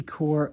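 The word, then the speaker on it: Kaur: good that's a rupy core core core I think is how you say it k r quote I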